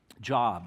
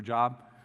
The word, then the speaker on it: Job: called the book of Job if you're looking for a job there's a book in there when it's actually job yeah okay but it's spelled the same way and and the book